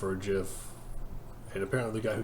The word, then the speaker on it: GIF: He said it's pronounced like the peanut butter, which just made people upset.